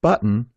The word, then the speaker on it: button: First, stop and hold the air in your throat on the glottle T. Then, make the N sound.